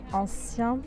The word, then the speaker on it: ancien: Ancien, ancien, eu tenho que abrir um sorriso aqui para falar esse EN.